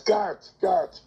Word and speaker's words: Garth: Are you one of these people who says Gareth Brooks? Yes, I grew up saying Gareth. I was saying it wrong the whole time.